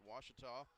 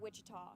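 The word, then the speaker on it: Ouachita: the damage for Harding we've got one complete was gets one one run on one hit there was one Harding error after one Harding two wat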